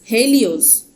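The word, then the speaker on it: HEL1OS: payloads of Aditya L1 h e l One OS pronounced as Helios is another payload of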